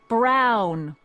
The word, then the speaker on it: Brown: That's Emmett Brown. Rhymes with clown, which I'm beginning to think you are.